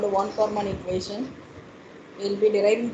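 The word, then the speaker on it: von Kármán: So usually it's not von Karman, it is von Karman. When though the spelling is VON, we need to pronounce the name as von Karman equation for boundary layer.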